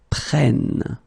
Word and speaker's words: prennent: because it's ils, elles prennent. Okay, so basically you double the N here, and it will give you well, different sound here because you get to open the sound, so it's prêt, prennent. Okay, so let's see that one more time.